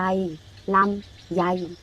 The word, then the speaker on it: ลำไย: แล้ว หมาย เลข 1 อ่าน ว่า อะไร คะ รอ เอา ลำ ยอ ไอ ใหญ่ ลำไย ลำไย ลำไย เป็น ผลไม้